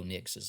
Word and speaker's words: Nix: Oregon QB Bo Nix's last name rhyming with Pix.